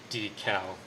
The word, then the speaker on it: decal: I say deckle. Like deck, D-E-C-K. Oh, deckle. I'm actually really curious as to how Dylan would pronounce this. Decal.